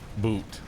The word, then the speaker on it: Boot: It's boot, but you pronounce the O as in the word old.